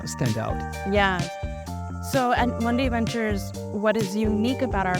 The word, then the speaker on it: Mundi Ventures: Did I pronounce it right? Yeah, Mundi Ventures.